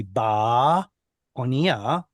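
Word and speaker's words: באניה: in front of it, how do you pronounce it? Bo Onia. Depends. Either it's definite and has a lengthened kamatz because of the aleph, in which case it would be ba onia, in the ship, or it should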